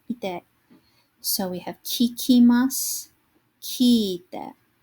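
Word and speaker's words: 聞いて: So we have kikimasu, kiite. Now notice that long vowel sound, ki-i-te. You want to make sure that you are writing down and carefully pronouncing all of the hiragana in your words.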